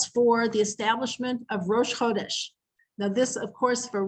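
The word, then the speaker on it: חֹדֶשׁ: It's spelled like the word chadash, even though it carries a little dot above the chet and it's pronounced chodesh, but it's really chadash.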